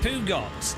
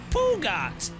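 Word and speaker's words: Peugeot: Alec, but it's how it's pronounced, Pugot. I love how triggered people get when you say French words wrong. We're playing Le Mans Ultimate, obviously. The men's Ultimate. It's because Sean Cole from Simpit called it a Pugat. It's yeah, that's how you pronounce it. Pugat. I think it should be. There's not even an oo in it.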